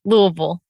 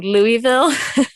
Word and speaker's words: Louisville: Louisville. How do you say it? Oh, us Louisvillians say Louisville. But Louisville. Most people say Louisville. I say Louisville.